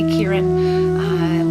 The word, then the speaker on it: Ciaran: We don't know if it's a boy or a girl, but it is going to be Kieran, which is spelled Ciaran.